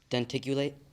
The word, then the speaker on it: denticulate: early humans used for shredding food d ticulate denticulate am I pronouncing it correctly denticulate that is correct say say one more time